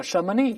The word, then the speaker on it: Chamonix: 发祥地叫 Chamonix，这是法语，所以后面的 X 就不发音了，我们可